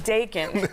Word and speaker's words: Dakin: Are you lying because you said his last name rhymes with bacon? It's a good way to remember it. Frankie Dakin, like bacon.